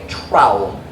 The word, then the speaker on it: trowel: an english trowel look it looks like towel with an r but trowel come on in dr